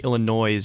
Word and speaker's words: Illinois: was Keen or Kane I think Illinois is pronounced Illinois yeah silent get you every time